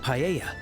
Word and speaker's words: paella: And mine is the seafood paella. Paella. So, they don't even pronounce the L.